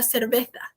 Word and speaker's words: cerveza: você pediria como uma cerveza, tá? Lembra na questão do Z que a gente falou da pronunciação? Bota a língua entre os dentes superiores e inferiores e faz a questão de S.